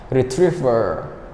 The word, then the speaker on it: retriever: we'd use this one Retriever Retriever Retriever can you repeat up to me that stress is on the second syllable retriever Retriever Retriever so Retriever